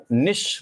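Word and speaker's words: niche: जो है आप सभी लोग जानते हैं कि प्रोनाउंसिएशन जब करते हैं तो इसे निच नहीं बोल देते, निश बोलते हैं।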